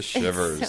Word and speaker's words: Shivers: Shivers. So weird. Everyone at work is like like like shivers like rhymes with rivers.